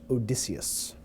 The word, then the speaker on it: Odysseus: Actually, it's pronounced Odysseus. Yes, the G is silent.